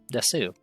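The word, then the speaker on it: です: Just use watashi no name, your name, desu. So I guess watashi no name, the depressed Eeyore. Desu. Phrase 2. Kore wa nake desu. Or des. You're not. I guess they pronounce the U very quickly.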